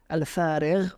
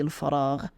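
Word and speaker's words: فراغ: So yeah, for example, I mentioned the example of waqti al-farigh or waqti al-faragh. I've mostly heard waqti al-faragh, not my free time. Of course, it's spelled fa, ra, and ghain, for those of you wondering.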